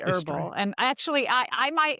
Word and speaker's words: herbal: And so what happened is that inspired a lot of the h's to be reinserted where they were sort of historically had been there at one time way way way way ago but had been dropped but then to sound fancy people put them back in and herbal is one of those words.